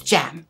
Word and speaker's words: Jem: i thanked you again i keep mispronouncing your name i'm so sorry hon it's gem i got it i